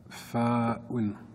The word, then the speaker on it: ف: Fa'un. Fa. Rappelez-vous, lorsqu'on va prononcer, on ne va pas prononcer la dernière voyelle. On va faire comme s'il y avait un soukoun.